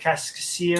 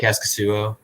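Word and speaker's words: Kaskisuo: Casimir Cascasio? Oh, Cascasuo.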